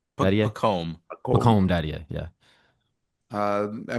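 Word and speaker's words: Pacôme: Pacome.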